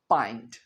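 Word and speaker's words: pint: आपने इसे पेंट नहीं कहना। क्या कहना है? पॉइंट।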